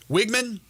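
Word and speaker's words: Weigman: the season but their quarterback wigman which is how you pronounce it two interceptions just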